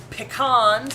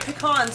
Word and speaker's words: pecan: adding flour salt and pecans i don't know if you're watching jason oh you are there you are i said it right pecans because thanks to jason's meme of a can of peas i will always remember